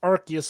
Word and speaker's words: Arceus: title arus to a conquering space time it's pronounced archus in the movie brother deji but yes indeed